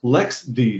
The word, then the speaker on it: LXD: pronounced l x see but lxd is actually pronounced lex the cause some reason the official pronunciation for the